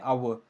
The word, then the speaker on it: hour: don't pronounce it it as how we say hour so the Ed is silent that is why uh we can give